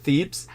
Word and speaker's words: Thebes: So primary city of worship was, I think it was Thebes, or how do you pronounce that? Thebes.